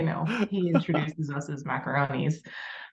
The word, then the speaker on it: Macaron: up your name Chelsea macaron not macaroni macarons I wanted to make sure I didn't mess it up I didn't want to say macaroni I want to make sure I say it right well in order not